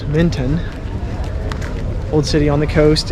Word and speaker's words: Menton: We are now in Menton, which we would pronounce Minton.